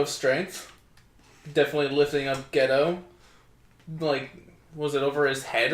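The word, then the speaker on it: Gedo: So next up, we have Chris Jericho versus Gato. Or Ghetto, sorry. It's pronounced Ghetto. Yeah. It's spelled differently.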